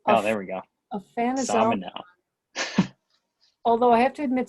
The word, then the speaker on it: Aphanizomenon: And you know, you struggled with the names that are hard to pronounce, so no shame there. Anabena, Aphanizomenon. Anazomenon. Oh, there we go. Aphanizomenon.